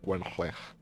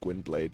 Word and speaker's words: Gwynbleidd: I don't care that they keep pronouncing it Gwynbleidd in the game. It's clearly Welsh. It literally means White Wolf. It's literally just Welsh for White Wolf. So I will pronounce it the Welsh way.